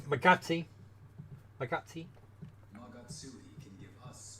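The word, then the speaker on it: Magatsuhi: It's Magatsi.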